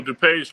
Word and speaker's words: DuPage: mean cooked oh yeah how you pronounce that is it do Podge or do page to page to page so DuPage County is its its West